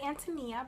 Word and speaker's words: Ántonia: a lot that's what I have is my ántonia i Willa Cather and it's pronounced and to me as a ref Antonia